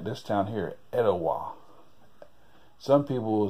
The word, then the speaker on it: Etowah: you said about georgia they don't say it as italia they say etowah you know it's like